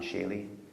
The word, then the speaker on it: Schiele: Just think Egon, and then like it's spelled Schiele. Schiele.